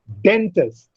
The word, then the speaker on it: dentist: Dentist, den is stressed or it is accented because den receives greater breath force and test receives lesser breath force.